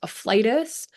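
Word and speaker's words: afflatus: It's actually pronounced afflitus.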